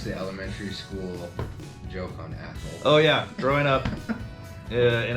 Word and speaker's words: Athol: classmates hey you know hold your tongue and say athl and you get people to say a bad word in class it was